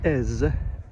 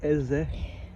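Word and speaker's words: Èze: Small village of Ez. English-speaking people would pronounce it Eze, Ezi, spelled E-Z-E.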